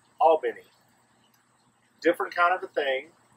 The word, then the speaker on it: Albany: Georgia it's a beautiful place and it's properly pronounced Albany not Albany it's Albany different kind of the thing it's almost like